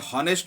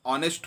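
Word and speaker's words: honest: Okay, ये हॉनेस्ट नहीं पढ़ना है, यहाँ पर एच साइलेंट है तो इसको हम ऑनेस्ट पढ़ते हैं।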